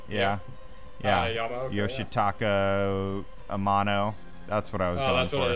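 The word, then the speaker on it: Yoshitaka Amano: of the different uh art from was it yakira amoka am I pronouncing that right yeah yoshito Amano that's what I was going that's what it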